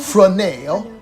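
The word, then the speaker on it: Fresnel: Fennell. It's spelled just like it sounds. Yeah, F''RESNEL.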